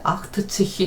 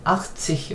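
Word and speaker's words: achtzig: 그 다음에 얘도 발음할 때 아크트치히 하면은 이건 아니다. 아크치히 이렇게 하시라는 거죠. 자, 얘가 예외입니다.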